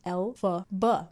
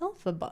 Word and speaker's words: Elphaba: original author of The Wizard of Oz's initials, Elphaba, the way that it's pronounced. See? Elphaba.